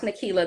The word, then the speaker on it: Nekelia: But yes, Nikila is pronounced Nikila. The I is silent.